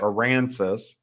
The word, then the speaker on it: Aransas: we went down to Port Aransas gonna say it right oh yeah Iran says and we spent four